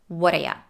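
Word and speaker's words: whaddaya: Whataya is also a reduced form of what are you. So what do you and what are you are pronounced the same. Whataya.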